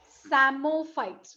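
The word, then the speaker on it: psammophytes: अब ये देखिए, इसका नाम जरा ध्यान से, सैमोफाइट्स। क्या है? सैमोफाइट्स, लेकिन इसका नाम शुरू होता है पी से। बी वेरी केयरफुल, है ना। लिखते समय गलती हमें नहीं करना है। जब बोलते हैं तो पी साइलेंट, लिखते समय आपको पी लिखना है।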